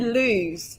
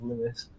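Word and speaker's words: Lewes: to google how to pronounce lewis did you pronounce it lose yeah yeah a lot of people do i thought double check and it was lewis i mean to be honest i didn't know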